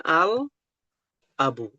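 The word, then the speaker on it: الأبُ: Nah, akan ada ee penjelasan bahwa kalimat ini berbunyi al abu. Dibacanya al abu.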